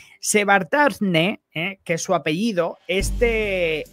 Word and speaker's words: Shevardnadze: Y bueno, pues en aquella época, Georgia estaba en el poder, estaba Eduard Shevardnadze, a ver si lo puedo pronunciar bien porque tiene unos nombres más raros. Se llama Eduard Shevardnadze, Shevardnadze, que es su apellido.